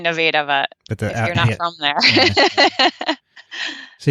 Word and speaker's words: Nevada: spelled like nevada that's confusing yeah which everyone pronounces nevada right well we all say noveda but that's from there so you went to